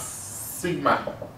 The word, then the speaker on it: sigma: Means it's pronounced as sigma. Pronounced is a Greek letter. Pronounced as sigma.